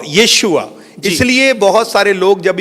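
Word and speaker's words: Yeshua: लेकिन जो right pronunciation जो इब्रानी में आता है वो यीशुआ आता है। यीशुआ।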